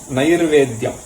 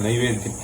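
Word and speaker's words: नैर्वेद्यम्: So Adyam means Nairvedyam. Okay, that Ir has to be properly pronounced, otherwise it will become Naivedyam.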